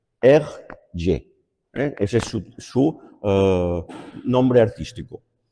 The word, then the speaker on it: Hergé: el y simplemente es las dos iniciales la g y la r puestas al revés y pronunciadas en francés r y Ese es su nombre